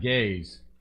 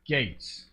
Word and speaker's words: G8z: yeah it makes sense not gays it's Gates yeah like get some education